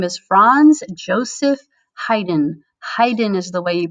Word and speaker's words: Haydn: month and his name is franz joseph haydn haydn is the way you pronounce that name and he lived from 1732 to 1809.